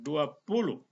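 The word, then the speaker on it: zwanzig: Z dibaca dengan TS duluan. 20.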